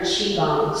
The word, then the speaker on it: Qigong: from where I've learned chiong. So, first of all, it's pronounced chi when you see the Q and the I together, it makes it sound like chi, like cheese, but take the S and E off that.